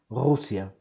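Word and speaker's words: רוסיה: So, Ru, Ru, Ru, S, Ru, Rus, Rus, E, A, Rusia, Rusia.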